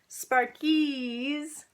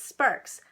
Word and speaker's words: Sparkes: He'll tell people it's Sparks, but it's spelled like Sparkies.